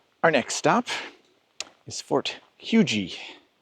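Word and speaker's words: Huger: that pretty neat our next stop is Fort huji spelled h u g r but uh the science says it's pronounced huji so okay uh this was a Civil War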